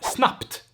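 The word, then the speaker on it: snabbt: for instance you have snapped it's basically like you would spell it with a p instead so snub and snapped nothing is happening here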